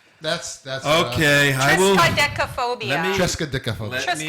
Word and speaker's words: triskaidekaphobia: Try to pronounce it. Okay, Frigga. Okay. Friggatriskaidekaphobia. Okay. Trexkaidekaphobia. That's Okay, I will. Triskaidekaphobia.